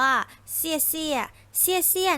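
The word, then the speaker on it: 谢谢: สุด ท้าย นะ คะ ที่ 4 อ่าน ว่า เซี่ยเซี่ย นัก เรียน คิด ว่า แปล ว่า ลา ก่อน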